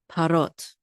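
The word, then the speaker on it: פרות: a separate syllable oh but here and this word it goes all together we see parot this is part of this syllable okay and the accent of this word is on the last syllable parot and parot means cows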